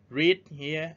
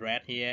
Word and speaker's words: read: form are the same they are written the same at the present form but they are pronounced differently remember the password read here and read here in the past and finally the verb